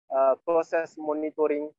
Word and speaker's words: monitoring: But when you put ing, you don't pronounce that O again. So you just say monitoring. Monitoring. Okay. Not monitoring. Okay. Monitoring. Okay. Monitoring. Yes. Okay. Silence app. Silent, the silent O.